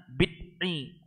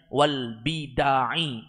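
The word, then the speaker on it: والبدع: albidu artinya bidaah-bidah ya jadi jangan dibaca apa namanya Bidi Wal Bidi tapi kita bacanya Wal Bida karena dia adalah bentuk jamak taksir artinya bidaah-bidah mufradnya bidatun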